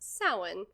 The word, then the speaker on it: Samhain: originate from Samhain, which Samhain is not spelled how it sounds. I forever thought it was Samhain or Samhain. So if you see a word that's Samhain, just know it's pronounced Samhain.